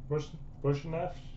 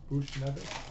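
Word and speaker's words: Buchnevich: We've got prospects of Pavel Bushnev. I can't pronounce his name.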